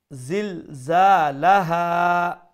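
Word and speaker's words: زِلْزَالَهَا: Za is a powerful letter. Make sure you pronounce it with a strong sound. Zilzalaha.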